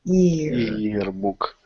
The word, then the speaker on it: yearbook: heck out of that yearbook better and yearbook I'm hearing a little bit closer to year so I'm getting the Y you're pronouncing the Y very well but ear not air but ear book okay let's let's go